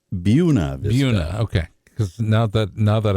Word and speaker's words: Buena Vista: It's pronounced Buena Vista.